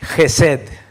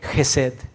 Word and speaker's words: Hesed: Es Hesed, Hesed, esa es la palabra de amor.